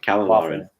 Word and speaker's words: Loughran: How do you pronounce it? Callan, Loughran, Loughran.